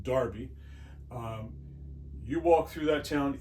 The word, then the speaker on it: Derby: They started in Derby, which is spelled Derby, Derby in England. They call it Derby.